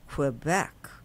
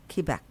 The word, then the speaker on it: Quebec: So from Montreal, we went to and it's not pronounced Quebec in Canada. It's called Quebec. Quebec.